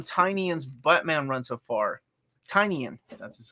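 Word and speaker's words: Tynion: your thoughts on tinian's batman run so far tiny in that's how you pronounce it i like it a lot not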